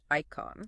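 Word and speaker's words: eikon: That's e i k o n pronounced icon.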